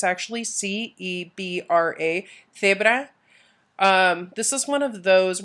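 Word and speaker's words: cebra: Zebra. This is one of those where my crazy Castilian accent isn't going to help you out because guess what? I pronounce C's and Z's with a TH sound.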